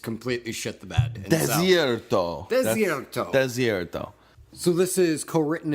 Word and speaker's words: Desierto: I do also want to note, I did pronounce the name wrong. It is Desierto and not Desierto.